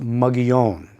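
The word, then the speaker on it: Mogollon: The problem with Mugion and it incidentally is named for a Spanish governor from the 1700s and pronounced Mugion.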